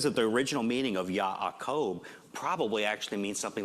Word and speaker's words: Jacob: Where'd the J come from? You've got Akob. Where's the J? Well, in Hebrew, the name is actually pronounced Ya'akob. There's actually an aleph. It's a little guttural letter that goes in between. Ya'akob. The J gets pronounced Y because it just does.